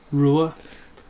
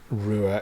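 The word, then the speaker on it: Ruwa: seen it written down r-u-w-a I assume it's pronounced Rua Rua yeah uh so 16th of September 1994.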